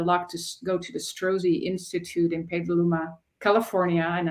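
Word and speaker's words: Strozzi: I had the luck to go to The strozy Institute in Petaluma California and I encourage everyone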